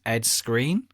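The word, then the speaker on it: Skrein: to say his name correctly I believe it's Ed screen s k r e i n I think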